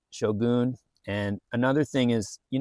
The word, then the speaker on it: shogun: I guess that's his right as the author, but it's pronounced Shogun.